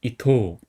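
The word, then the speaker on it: 伊藤: 그다음에 등나무 등은 토라고 읽어요. 등나무 등은 이름에 굉장히 많이 나오는 한자예요. 그래서 꼭 알아가세요. 토 또는 도라고 읽어요. 그래서 여기서는 이제 토라고 길게 읽어요. 그래서 이토 그다음에 이등 같은 경우는 큰바다 양 빛날 휘가 합쳐진 한자예요.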